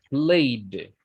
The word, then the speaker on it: played: And the D sound, number 3, if the letter ends with a voice consonant, then the sound is with a D, like played, played, d, played, Played.